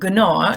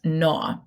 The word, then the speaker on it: gnaw: Okay, what letter is silent? The G. It's not gnaw, it's gnaw.